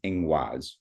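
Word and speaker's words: Ingwaz: The protoger Germanic um word for this symbol is ingaz and then the old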